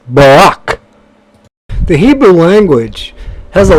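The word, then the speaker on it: ברך: letters valve dalit and bait the word is pronounced Barak the Hebrew language has a lot of different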